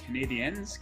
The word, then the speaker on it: Canadiens: He likes the under for the Red Wings Canadiens game. Les Montréal Canadiens, the French version of pronunciation.